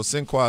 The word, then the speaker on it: Sinqua: Cinqua Walls. What does Cinqua mean? Yes. So Cinqua is the French pronunciation of the African name Sengebi.